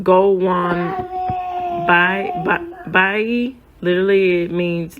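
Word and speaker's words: gołąbki: a form baby quit I know so it's pronounced Gold onean by by literally it means little pigeons and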